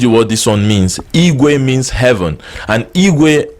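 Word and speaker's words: igwe: we a or in English language you can spell it i GW e i GW e can mean it way which is bicycle Equis say it way one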